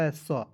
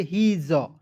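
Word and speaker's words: his: मात्रा ए का होता है स अब कहिए सर हिस होगा कि नहीं नहीं हिस नहीं पढ़ेंगे इसे पढ़ेंगे हीज ज के रूप में उच्चारण करेंगे ठीक है तो देखिए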